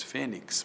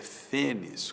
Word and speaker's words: fênix: tórax, é uma palavra, fênis, muita gente diz fênix, mas a pronúncia erudita é fênis, com X no final, látex, muita gente diz latex, mas não é latex, é látex, não é?